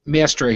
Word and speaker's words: Maestri: Luca, how do you pronounce the name? Maestri? Maestri, yeah.